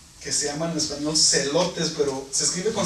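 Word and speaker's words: zelotes: se llaman en español celotes, pero se escribe con Z también. Celotes, con Z. Sí. Celotes, Como elotes. pero con la Z.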